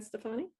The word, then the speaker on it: Stefani: Amy, John told me I was saying her name wrong the other day. Is it Stefani? Yeah, Gwen Stefani.